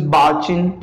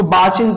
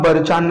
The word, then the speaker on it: barchan: Sand dunes, barchin, ठीक है, इसको barchin produce करते हैं, ठीक है, not barchan और ये सब, इसे आप कैसे pronounce करोगे, barchin, ठीक है, barchin is a